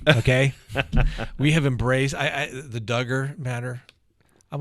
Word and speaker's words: Duggar: I'm like, it's Dugar, right? This looks like a Dugar to me. Oh my God! Every comment, you mispronounced it. It's Duggar, and I think it was Julie that said it's Duggar. Like rhymes with hugger.